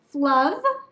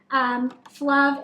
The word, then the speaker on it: Flove: this is the brand Flove. With my southern accent, I think it's maybe a little more of an than they intended, but Flove is a menstrual cup brand from Norway.